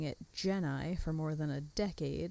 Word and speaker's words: Gennai: Side note, in this dub, they pronounce it Genai, which, yeah, made me cringe a little.